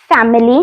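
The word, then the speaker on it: famille: है तो चलो शुरू करते हैं फर्स्ट है फैमिली तो उसको बोलते हैं फमले अब मैं आपको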